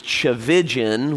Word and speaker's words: Tchividjian: Tullian, the last name is Tchividjian, which rhymes with religion, if that helps.